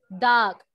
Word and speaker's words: duck: Duck. Ah, esa duck. U se pronuncia como O.